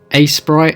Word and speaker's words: Aseprite: the pixel art software a Sprite I believe it's pronounced it's the first time